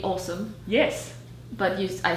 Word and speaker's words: Åsa: So it would be, the pronunciation would be awesome.